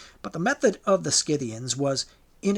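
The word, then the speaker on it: Scythian: Skidian warriors or pronounced Cyian warriors.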